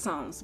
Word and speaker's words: Psalms: understand psalms more i i think it's pronounced songs but go ahead like